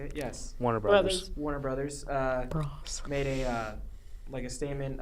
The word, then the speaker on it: Warner Bros.: Warner Brothers.